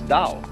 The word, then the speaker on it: Dao: Do is the way the Japanese pronounce Dao.